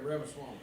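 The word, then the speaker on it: Ramaswamy: a hoop in a holler there um Rams ramswamy how do you say that OD yeah ramaswami ramaswami I know where you got that out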